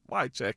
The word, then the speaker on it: Wycheck: and hearing his name, not knowing how to say his name first and foremost, and then understand like it's just Wycheck.